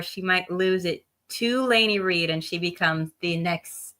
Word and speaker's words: Lainey Reid: You said it right, Lainey Reid.